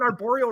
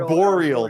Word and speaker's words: arboreal: a lot about trees i would have gotten arborial right because tarantulas are terrestrial arboreal that's how you say it that makes way more